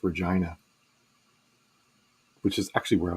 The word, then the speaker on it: Regina: grew up in canada the name regina is pronounced regina which is actually where i was born and